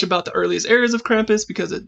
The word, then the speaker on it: Krampus: So Krampus... I don't know how to pronounce it either. It's Krampus, or Krampus for Germans.